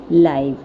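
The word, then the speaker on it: live: That we are able to C sports and other event taking place in any part of the world लाइव, pronounce rhyming with हाइव from the comfort of our Holmes.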